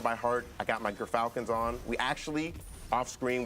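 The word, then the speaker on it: Gyrfalcons: I got my Gerfalcons on. We actually, off screen, we're figuring out how it's pronounced. But Gerfalcons, everyone, so anyone who mispronounces it, that's how you say it.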